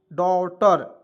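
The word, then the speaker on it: daughter: एच टी आर तो इसे क्या पढ़ेंगे डॉ डॉटर ठीक है डॉटर डॉटर डी से ड लिख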